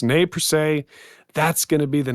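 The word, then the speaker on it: Nez Perce: So again, that system, I will spell it for you guys. NEZ space PERCE, pronounced ne per se.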